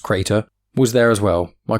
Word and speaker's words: CR8R: CR8R, pronounced Crater, was there as well, my constant companion since I was a kid, and as cranky as the day he was activated.